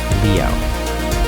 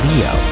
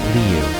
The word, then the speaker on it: Liu: Alysa Liu. Pause on that. Ah-LEE-sah, not Alyssa. And Liu, 1 syllable, not Liu or Lu or Lo.